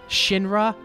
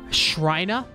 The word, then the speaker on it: Shinra: Two big mispronunciations. I used to call Shinra Shrina.